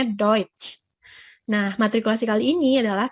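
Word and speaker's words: Deutsch: Jerman itu adalah duit atau the UTS Yi bacanya duit nah matrikulasi kali ini adalah Kenapa bahasa Jerman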